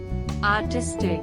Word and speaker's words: artistic: word artistic the pronunciation is very easy three syllables and the emphasis on second syllable r jeez tick artistic the meaning of